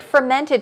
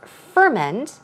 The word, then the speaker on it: ferment: foods now from mint as a verb the stress goes on the first syllable so it's ferment but as a noun it is ferment so the stress goes right there on the second syllable ferment fermented foods so